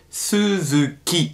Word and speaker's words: Suzuki: in dem namen suzuki das wird auf japanisch immer wie ein weiches es ausgesprochen also wie ein deutsches weiches es da muss man auch ein bisschen aufpassen es heißt nicht so zugeht sondern es heißt suzuki er das erste ist